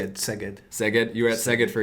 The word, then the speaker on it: Szeged: Szeged.